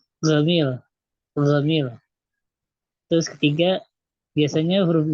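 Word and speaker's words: جميل: Nomor 2, orang Mesir melafalkan huruf J dengan huruf G. Contoh Gamil.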